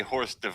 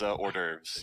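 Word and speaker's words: hors d'oeuvres: lives easier but uh you say horse Dev it's orderes yeah it's spelled funky here have a note you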